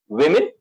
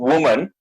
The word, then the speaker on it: women: You know, when I pronounce the word women, it's not woman, right? It's plural. Plural is women. So I'm using the O symbol, but then the sound is I.